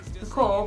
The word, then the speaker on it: Nicole: first fact is that my middle name is Nicole H so it's pronounced Nicole but it's spelled nickcole and then the second